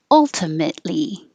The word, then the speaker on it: ultimately: Ultimately, and don't pronounce the T ultimately.